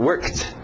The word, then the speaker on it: worked: Então aqui work, worked. Só o som de um T.